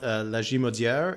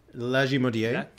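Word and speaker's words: Lagimodière: But it's not Lajimaudière. It's Lajimaudière and Lac de Bonnie.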